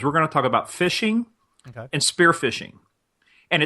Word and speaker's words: phishing: going to talk about phishing and spear phishing and it sounds just like exactly what it is even though it's spelled different it's spelled pH is